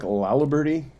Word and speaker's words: Laliberte: having me jordan um my name is lalaberti you don't hear me pronounce my last name too often because i